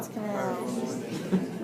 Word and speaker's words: Guyon's canal: Guyon's Guyon's canal. canal. What bones make up Guyon's canal? Guyon's canal. I'm sure it's French and Guillaume or something like that.